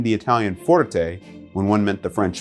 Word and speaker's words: forte: all that is good please don't place the stress on the second syllable it's pronounced forte not forte the second word i